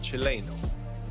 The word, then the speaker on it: Chileno: I was informed it's pronounced Chileno. Chileno, alright. Chileno like Chile.